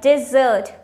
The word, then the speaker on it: dessert: Chocolate brownies are my favorite dessert.